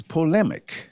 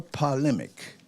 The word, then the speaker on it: polemic: Second word of the day is polemic Okay. or polemic, polmic, POL.